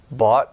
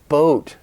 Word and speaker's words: boat: they make it long it makes a difference if you're saying bought or boat I bought a boat